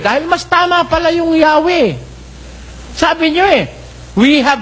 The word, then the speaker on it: Yahweh: Ito sakhova pakikita ko sa inyo sabi nila rito while inclining to view the pronunciation Yahwe as the more correct way we have retained the